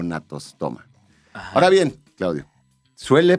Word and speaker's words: Gnathostoma: Entonces, bueno, natostoma, para quien no lo haya escuchado antes, se escribe con G, natostoma, es el género, Natostoma sp.